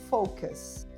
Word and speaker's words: focus: Você pode achar que alguém está xingando outra pessoa, mas na verdade a pronúncia correta é focus.